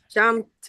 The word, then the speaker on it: jumped: I don't pronounce the e. So, the brain says like, I can't pronounce PD. If this is difficult, I'm going to give you a t.